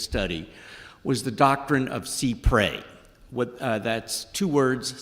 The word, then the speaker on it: cy pres: the technical pronunciation is C pre it comes from a longer French phrase uh developed in the Middle Ages and under that version it is pronounced C pre I have heard however